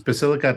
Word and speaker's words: Basilicata: Can you give us the right pronunciation for that? Yes, it's Basilicata and Puglia.